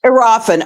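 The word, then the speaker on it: Iriafen: Um, you've got uh the rookie Sonia Citroron uh from the Mystics and you've got Kiki Arafen from Is that Am I pronouncing that right? Yes. Arafen.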